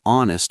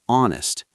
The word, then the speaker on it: honest: Number two, an honest mistake. H is silent in honest, an.